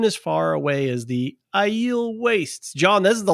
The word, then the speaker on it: Aiel: I haven't mastered the weave, but I've mastered the pronunciation of Aiel.